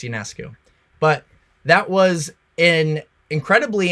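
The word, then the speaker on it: Ionescu: versus Sabrina aesu yonescu however you pronounce it I think it's yonescu but that was an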